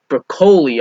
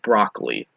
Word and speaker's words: Broccoli: G Wilson and Barbara brocoli I thought that was bi think it's actually pronounced broccoli Barbara broccoli that said